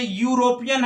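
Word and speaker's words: European: इसी प्रकार से यूरोपियन है, उच्चारण यू से होगा, भले ई से प्रारंभ है, इसलिए ए यूरोपियन होगा।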